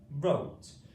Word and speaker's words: wrote: It's a silent letter. So here the W and R make the just a R sound. R O wrote.